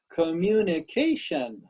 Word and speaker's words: communication: better thank you and this one has five syllables please give me all five fingers communication communication yes let's please do